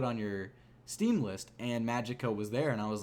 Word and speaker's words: Magicka: I never finished it, of a game called Magicka. And yes, I said it correctly. It's spelled Magicka.